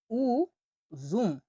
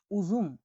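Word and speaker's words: uzum: তো ইউ এর উপরে এরকম দুটা ফোঁটা থাকলে উচ্চারণটা হবে উ, উ এর মতোই। আমি উদাহরণ দেখে আপনাদেরকে বোঝাচ্ছি, উ জুম, উজুম, উজুম মানে হলো আঙ্গুর, আঙ্গুর ফল উজুম।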